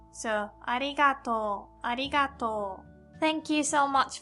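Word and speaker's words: ありがとう: That's to and u at the end, but because of o, u sound, we pronounce like long o sound. So, arigato, arigato.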